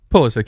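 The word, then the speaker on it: Pulisic: But they they put in Pulysic at the end. Pullesic. I can't pronounce this dude's name. Want to get it right. Pulysic.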